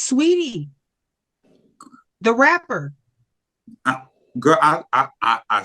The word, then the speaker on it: Saweetie: You saying you dragging the saw too long, honey. Just say Sweetie. I won't say Saweetie no more. All right. So Sweetie.